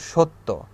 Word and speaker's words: সত্য: ফলাটা কি, যেমন সত্য, ম ফলাতে যেমন দ্বিত্ব উচ্চারণ হয়, জ ফলাতেও সেরকম দ্বিত্ব উচ্চারণ হবে, সত্য, সত্য। ঠিক আছে, সত্য, অর্থাৎ তটাকেই, শেষের বর্ণটাকে 2বার উচ্চারণ করতে হয় জ ফলা যখন আমরা ব্যবহার করি।